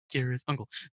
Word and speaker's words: Cirith Ungol: The scene filmed in Cirith Ungol, I believe is what it's pronounced. Sirathungu. I think it was Kirith, Uncle. Cirith Ungol? No, Kirith. Kirith? Kirith Mhm. Ungol. Kirith Ungol.